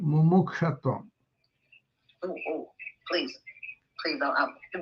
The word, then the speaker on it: mumukshatvam: There is a Sanskrit word for this called mumukshatvam. Ooh, please don't. How do I spell that?